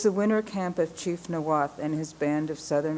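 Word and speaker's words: Niwot: It was the winter camp of Chief Noath and his band of southern Arapjo. Most people in Boulder mispronounced Noath as Nawat, or used the English translation left hand.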